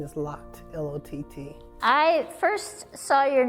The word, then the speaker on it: Lott: will you tell us your whole name and spell it? My first name is, like galore, V-A-L-O-R-E, and my last name is Lott, L-O-T-T.